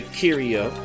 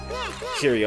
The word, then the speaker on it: Kiryu: see right next to Kiryu. Kiryu, I pronounced that so wrong. Kiryu, there we go.